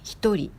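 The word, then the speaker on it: 一人: On dit comme hitori. Hito de hitori, c'est le chiffre en. Et ri de hitori, ça s'écrit en avec ce kanji. Personne. Mais cette façon de dire est exceptionnelle pour ce kanji. On peut lire comme ri, mais seulement pour dire une personne et deux personnes.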